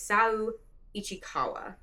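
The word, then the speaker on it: Saou Ichikawa: This is by, I believe the pronunciation of this person's name is Sao Ichikawa.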